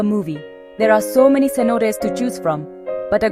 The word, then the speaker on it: cenotes: Cenotes, pronounced cenotes, are natural sinkholes filled with crystal clearar fresh water, and the Yucatan Peninsula has thousands of them.